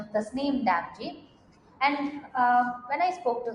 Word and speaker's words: Damji: And I'm here with someone who is going to pronounce her name properly and I'm going to follow it. Tasneem Damji. Damji. See, I followed it right. Tasneem Damji.